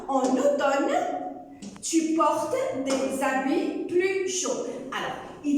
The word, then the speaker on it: habit: L'automne, en automne, tu portes des habits. Alors, habit, il y a un H muet qui ne se prononce pas.